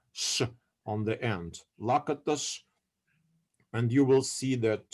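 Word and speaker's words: Lakatos: other three figures uh lakitus uh uh because in in hungarian surnames s is pronounced as sha sh on the end lakitus and you will see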